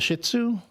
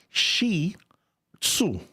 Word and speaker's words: Shih Tzu: The people call it the Shih Tzu. That's not how you pronounce it. It's Shi-Tzu. Shih-Tzu. Shi-Tzu. Shih-Tzu. Yeah, Shih-Tzu. Not the other way. Because it's not like a poop-tzu.